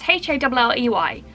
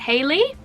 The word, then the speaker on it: Halley: When I saw it on YouTube and on the back of her album, I read it Halley's Comet. It's Halley, Halley, right? But Billie sings it Haley, so I'm gonna say it's Haley.